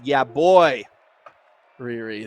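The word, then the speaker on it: Yeahboyriri: riri okay all right i apologize for getting your name wrong thus far it's yeah boy riri there we go all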